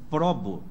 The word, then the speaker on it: probo: coloca na rede que a palavra provo isso mesmo assim a pronúncia probo em seu sentido primeiro